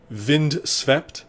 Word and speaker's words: Vind: that entire music playlist vind spelled the way it's pronounced uh you can find